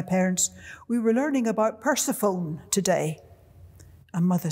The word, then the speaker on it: Persephone: we were learning about persephone today and mother said what and i said persephone she said you mean persephone the teacher had told us we pronounced that word persephone they then followed an